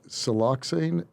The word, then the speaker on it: siloxane: you talk about here uh i think it's siloxane is am i pronouncing that right siel yep no you're pronouncing